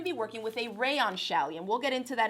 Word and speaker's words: challis: some suggested fabrics so the first one is actually pronounced shaly alright this is one of my favorite fabrics to work with and i'm gonna be working with a rayon shelley and we'll get into